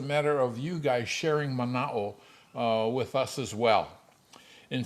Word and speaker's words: mana'o: hawaiian word uh and that hawaiian word is manao uh and for those of you unfamiliar with the hawaiian language manao is spelled m-a-n-a-o and what manao refers to um